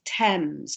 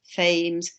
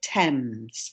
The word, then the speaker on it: Thames: and the pronunciation is thames it's strange pronunciation compared to the spelling it's not pronounced fames or anything like that but thames so again you can